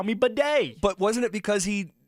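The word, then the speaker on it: Badie: Who was the Bronco that changed how to say their name? Bidet. It was Batty. We called him Tyler Batty. And then that was like a year of that. He was like, stop calling me a baddie.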